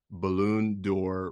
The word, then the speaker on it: Ballon d'Or: She is a back-to-back Ballon d'Or winner. I probably butchered the hell out of that name.